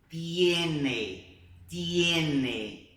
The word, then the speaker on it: tiene: A letra T, no espanhol, tem som de T mesmo, ok? Então, presta atenção como é que a gente vai pronunciar. Tía, tía, tiene. Viu que não tem esse tchá-tchá?